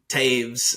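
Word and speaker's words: Toews: illness so Devon or Taves sorry it's spelled t o e WS Taves uh that's the one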